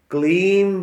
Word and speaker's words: क्लीम: श्वास लंबा भरा, पूरा गहरा सांस भरा, जैसे क्ली हमने इस जगह पर वाइब्रेट किया, और फिर जब म है, क्ली, बहुत लंबे समय तक म का उच्चारण सिर को ऊपर नीचे